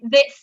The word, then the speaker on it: this: good um but um in order not to have it confused with the plural which is these um which has a longer uh and clearer sound um this is pronounced with a shorter vowel uh so that's the